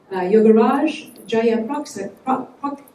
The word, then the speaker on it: Yogaraj Jayaprakasam: Now, this gentleman goes by Yogs, but I'm going to try to pronounce his name properly. Yogaraj Jayaprakasam. Did I say it right?